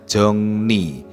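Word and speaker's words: 정리: rel adalah penanda objek jongri bacanya jongni jongni jongdun Hada artinya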